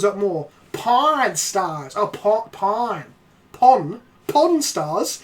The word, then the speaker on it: Pawn Stars: Oh, pawn. Pawn Stars? It's not pronounced pon! It's not you don't pawn off stuff, you fucking mad bastards!